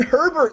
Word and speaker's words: Herbert: go with the justin herbert this week that sounds absolutely perfect it run it rhymes with sherbert and rainbow sherbert is